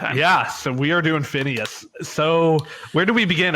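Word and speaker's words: Phinehas: That H is very important there.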